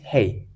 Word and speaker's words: ה: When you see that, it is called Yod, and this one is, and it is pronounced as E. And this one is Hey.